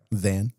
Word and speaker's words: Than: Dan.